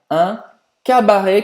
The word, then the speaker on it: cabaret: Você pode pronunciar le cabaret com som aberto ou le cabaret com som fechado.